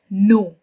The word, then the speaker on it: know: i can talk about no k n o w k is silent so we use it